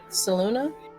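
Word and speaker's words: Selûne: drink from her OJ saluna yeah so it's spelled s e l u n e but the the last e has a little thingy on it that makes it sound like a uh thank you TR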